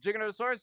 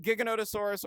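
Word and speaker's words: Giganotosaurus: Uh but yeah, uh Jigonosaurus. Jiggonosaurus is really cool. Uh and you can pronounce it Gigonosaurus or Jiggonotasaurus. Either way is technically correct.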